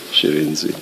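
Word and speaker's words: Shirindzi: Shirenzi.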